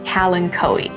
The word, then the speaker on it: kalanchoe: But here at Mountain Crest, we stick with kalanchoe. And you might notice, even though this word has a CH in it, I'm pronouncing it more like a K.